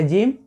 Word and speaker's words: gym: तो GYM से हो गया जिम और KHAN से हो गया खाना।